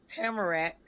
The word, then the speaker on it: Tamarac: though you said it wrong first of all it's tamarack timberlake all right got you